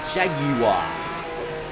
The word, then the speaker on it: Jaguar: I think he won Le Mans, if I'm not mistaken, for Jaguar. Or as the British call it, Jaguar.